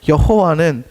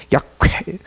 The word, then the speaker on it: 야훼: 아마 여호와는 이게 헬라 단어에서 온 발음이기 때문에 옳은 발음이 아니고 야훼일 것이다. 야훼.